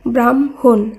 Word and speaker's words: ব্রাহ্মণ: আকার হয় ময় মূর্ধন্য এই শব্দের উচ্চারণ হবে ব্রাহ্ম ব্রাহ্মণ আগে ম পরে হ উচ্চারিত হয়েছে একইভাবে ময় ফলা হয়